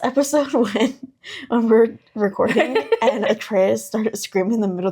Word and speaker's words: Atreus: But I thought it was very funny because you were just like, it's Atreus.